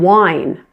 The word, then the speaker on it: wine: So now we're going to pronounce that I with its long vowel sound, which is I. The pronunciation is wine. So notice the difference, win and wine.